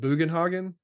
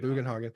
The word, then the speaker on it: Bugenhogen: when you first meet Bugenhogen. They say his name now. Now we know how we know how to say his name. We were always Booenhogen.